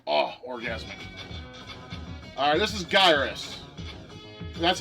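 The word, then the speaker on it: Gyruss: Alright, this is Gyrus. That's how it's pronounced.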